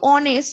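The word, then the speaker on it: honest: এ বসে গেল কিন্তু অনেস্ট এখানে এইচ থাকা সত্ত্বেও আমরা ও এর উচ্চারণ করছি অনেস্ট তাইন হল আওয়ার এখানে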